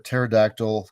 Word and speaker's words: pterodactyl: Um, if you want to come on on and snort, uh, why can't you hear a pterodactyl taking a whiz? Because the P is silent, especially if you're high above, you can never hear them leak.